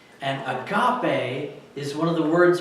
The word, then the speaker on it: agape: And you spell it out in English and it looks like it's agape, which means to be widely open, and you're like, that's a weird word, but it's agape in Greek.